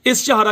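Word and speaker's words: Ishihara: इसी तरीके से एक कलर चार्ट होता है जिसे बोलते हैं इश्तिहारा चार्ट, स्पेलिंग ध्यान से सुनिए, प्रोनाउंसिएशन इश्तिहारा चार्ट्स।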